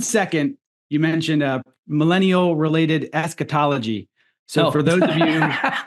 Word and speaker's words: eschatology: Eschatology. If you can figure out how to spell it. You will not be able to. There's a CH in there. Yeah. It's like school, eschatology.